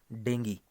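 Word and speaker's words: dengue: और इस बीमारी का नाम है डेंगी, हिंदी में डेंगू कह देते हैं, और इंग्लिश में अगर इसका करेक्ट प्रोनाउंसिएशन देखें तो दिस इज कॉल्ड डेंगी, ठीक है।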